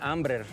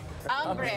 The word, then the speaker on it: Amber: parece a Amber bueno se pronuncia ambr ambre a mí me regaló